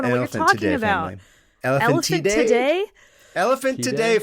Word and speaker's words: Elephantidae: And both involve members of the Elephantidae family.